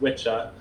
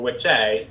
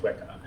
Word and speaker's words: Wicca: And if it was pronounced properly, it would be pronounced witcha or witche or witchian. It's not actually pronounced Wicca.